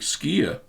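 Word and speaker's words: skyr: cheese also you could try Icelandic skier it's KYR is how you pronounce it and there's a video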